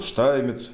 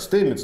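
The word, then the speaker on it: Stamets: И вот, к сожалению, там знаменитый Пол Штаймец, да, у нас он в русскоязычной традиции как Стеймец, да, но это все-таки немец, там, так или иначе, этнический, вот, поэтому правильно его произносить Штаймец, Пол Штаймец.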